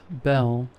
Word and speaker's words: Bel: Then she said her name was Belle. I said, "Like the Beauty and the Beast." She laughed, then said, "Almost, but it's spelled B E L."